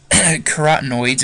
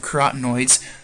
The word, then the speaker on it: carotenoids: Again, so the green pigment is destroyed, and then the other pigments, including yellow and orange, carotenoids is how you say that, carotenoids, another pigment, usually not usually is blocked by our chlorophyll.